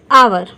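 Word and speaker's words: hour: तो इसमें क्या है कि ये जो एच है, ये एच वो क्या हो गया है? साइलेंट हो गया है और इसका उच्चारण जो है प्रोनाउंसिएशन वो आ से हो रहा है.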